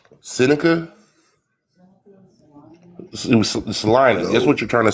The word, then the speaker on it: Salina: Uh Sica Salina. That's what you're trying to say. You're trying to say Salena, not Selma. Salena. Oh, that's what it's called. It's called Salena, Kansas.